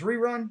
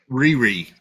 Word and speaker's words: Riri: in essence did you say her name was rerun like what's happening what did you say her name was no Riri r-i-r-i Riri okay I don't know much about